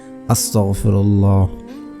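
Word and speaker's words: أستغفر الله: আস্তাগফিরুল্লাহ, আস্তাগফিরুল্লাহ, আস্তাগফিরুল্লাহ। আপনারা এইভাবে পড়বেন না আস্তাগফিরুল্লাহ, আস্তাগফিরুল্লাহ, আস্তাগফিরুল্লাহ, তাহলে উচ্চারণ সঠিক হবে না এবং দোয়াও কাজে আসবে না।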